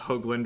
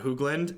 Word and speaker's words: Hoagland: It is, in fact, Hoagland with a long O sound. So, Hoagland. Yep. I'll never forget the first time I went up to Cedric after a feature match. So I was like, you know my last name is pronounced Hoagland, right? Not Hoogland.